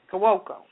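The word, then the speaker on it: Cuoco: Pronounce it for me, Redwine. Who? Kelly? Kawoko.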